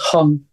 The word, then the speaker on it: Hang: want to mispronounce it is it called the hang drum or the hung drum yeah it's spelled Hank but pronounced Hong okay not a drum that's why we call